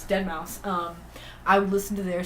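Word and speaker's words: deadmau5: I used to call it Dead Mouse 5. So I still say it out loud, and it's embarrassing to think about because I know that's not how you say it. But in my mind, by myself, I say it. I just said it. Anyways, Dead Mouse.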